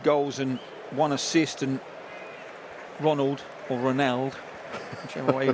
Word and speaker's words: Ronald: We were told say it like Ronaldo without the O.